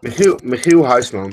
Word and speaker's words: Michiel Huisman: Yeah, it's a Dutch version of Michael. Yeah. Michiel Huisman.